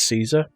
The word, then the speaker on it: Caesar: Now you're going to have to tell me how to say this properly, but I always said it's Caesar. Caesar's correct, yeah. Like the Emperor or the Palace. Or the salad.